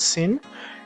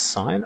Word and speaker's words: sine: and s so the sign of this angle not sin is pronounced sine of this angle is